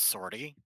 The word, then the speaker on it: sortie: non-creatures here i always i used to not understand how to pronounce sortie i know it now is sorti but i thought it was french as a little kid